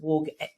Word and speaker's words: Woog: Tell us how you got started in the world of blogging and how you came up with Mrs Woog from Woog's World. It's actually pronounced Woog.